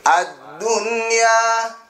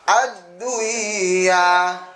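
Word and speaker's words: الدنيا: Ad-dunya, jelas, enggak boleh dibaca ad-duya, enggak boleh.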